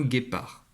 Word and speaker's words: guépard: Alors ce premier mot, c'est un guépard. Alors ici, le D est muet. Un guépard.